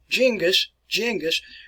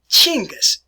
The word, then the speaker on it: Chinggis: that around right here, we try to spell these words in English the best way we can, such as you see Genghis, but Chinggis. And this is actually the word that I prefer here, Chinggis.